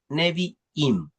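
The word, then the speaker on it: Nevi'im: torá después tenemos los neviim se escribe como suena con b y dos I neviim que son los profetas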